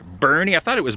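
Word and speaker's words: Boerne: a town by the name i believe it's pronounced bernie i thought it was born but i i asked the hotel last night they said it was bernie and yeah i'm just i'm just waiting it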